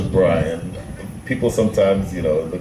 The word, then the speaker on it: Brian: want to have to pronounce my name is Brian people sometimes you know the cricket circles will call me billion or something like that